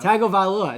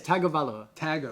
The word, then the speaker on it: Tagovailoa: Tagovailoa. That's what it is. Tagovailoa.